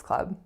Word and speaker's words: Club: sound of the vowel it's an a sound as an up so many of my clients for this word tend to make it more of a pure o sound but it's not a club it's a club Sam's Club our next